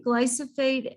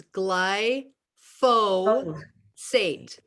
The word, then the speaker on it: glyphosate: and autism connections okay first of all i gotta stop you because we gotta pronounce it correctly everybody okay we gotta cook we gotta pronounce it correctly it's gly fo sate really important okay we